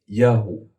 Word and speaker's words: Yahweh: The biblical text suggests that the original pronunciation of the name Yahweh was simply Yahu.